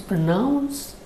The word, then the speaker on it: pronounce: a noun form pronunciation you can see that in pronounce as a verb you have n o u n in the spelling and in the word pronunciation it is n-u-n so the spellings are different sounds are different in the verb we have nouns so it is pronouns and in the noun form it is none pronunciation I hope it helps